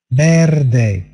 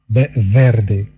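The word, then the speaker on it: verde: بيردي بيردي كما قلنا في الدرس الماضي، ليس فيردي ولكن بيردي خفيفة.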